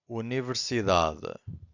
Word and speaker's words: universidade: And now we have this word here, universidade. Universidade.